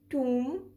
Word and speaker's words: tomb: the reason is this when m and b are at the end of a syllable we do not pronounce b but when m and